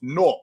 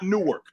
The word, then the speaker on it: Newark: It's pronounced Nork, N-O-R-K. That's what it's pronounced. N-O-R-K. That's for y'all that don't know. It's pronounced N-O-R-K. Nork. It's not Newark. It's Nork.